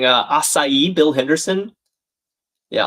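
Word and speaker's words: açaí: Raina and Banshee and Mitch Mitch and Smoke are saying acai. Bill Henderson. Yeah. Asai. Three syllable syllables in four letters.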